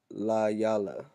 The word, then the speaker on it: Delilah: Del Dalayala. Dalay Dalayala. Yala. Okay, Delilah. All right, that's how you say it in the Hebrew.